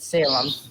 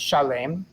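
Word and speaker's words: שָׁלֵם: and king of Chalet we're not going to pronounce it Salem because it's pronounced Chalet and milk and mokit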